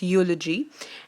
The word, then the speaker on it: eulogy: pronunciation so eulogy is not geology or eulogy is silent here it's eulogy and eulogy is actually a speech which is